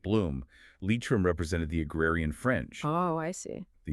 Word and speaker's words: Leitrim: The county is pronounced Leitrim in Ireland. Yes, Leitrim. It's vital to get that right.